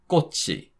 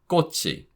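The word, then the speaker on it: 꽃이: So, this is pronounced kkochi kkochi.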